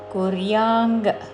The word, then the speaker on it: కుర్యాం: లోకా న కుర్యాం కర్మచేదహం న హ్రస్వము వెంటనే కుర్యాంగ్ అనుస్వారము క వర్గములోని అనునాసిక అంగు ఉచ్చారణం నకుర్యాం కర్మ చేదహం నకుర్యాం కర్మ